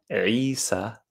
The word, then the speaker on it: Isa: the only people in the world that actually pronounce Isa the correct name of Jesus in the Quran